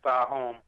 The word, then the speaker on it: Thaahum: So my artist name Thaahum. That's how you pronounce it, Thaahum.